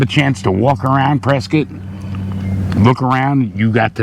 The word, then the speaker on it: Prescott: and that's something we both learned it's not pronounced Prescott it's Prescot it doesn't look like Prescot but